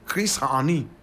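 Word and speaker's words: Chris Hani: a man by Nam Chris hany correct pronunciation Chris hany my God Chris hany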